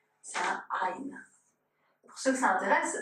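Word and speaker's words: עין: prononce pas mais les sepharades, les séphardimes, le prononcente. C'est un ain pour ceux que ça intéresse, ça veut dire un œil en hébreu.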